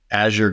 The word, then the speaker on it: Azure: But the way to remember it is say, Azure going to the cloud, use Azure.